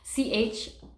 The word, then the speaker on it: Chiron: And then we also have this little planet called Chiron. I always say it wrong. Chiron.